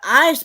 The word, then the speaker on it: Eis: let me tell you the ice part is spelled e i s it's spell it's german it's spelled eis instead of ice but anyway